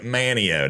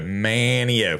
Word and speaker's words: Manteo: I can tell when I was like Manteo. There we go. Manteo. Forget the T.